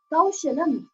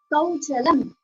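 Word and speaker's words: कौशलम्: In this verse, Swamiji pronounces the word Kaushalam as Kauchalam. Again and again, Swamiji will mispronounce this word purposefully when recite this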